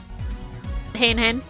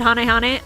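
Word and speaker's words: Hane-Hane: Hain Hain. I know some people pronounce it Hane Hane. Those people. You do you. It's Hain Hain.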